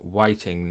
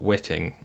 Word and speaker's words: whiting: Okay, so I just learned that it's definitely pronounced whiting, not witting.